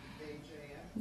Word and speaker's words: Khan: K-H-A-N. Okay, it's like Khan, that Khan.